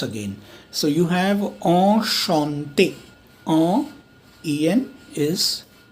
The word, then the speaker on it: enchanté: So you have enchanté. En is pronounced as ch is sh, like here, right.